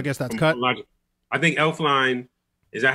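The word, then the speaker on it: Elflein: I think Elfline, is that how you pronounce his last name? Elfline?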